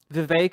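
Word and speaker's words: Vivek: uh Vive Rama Swami, Vive, it rhymes with cake and Peter Teal.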